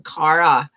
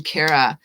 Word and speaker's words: Cara: the name right because i hate it when someone pronounces my name cara and i'm kara so i'm really diligent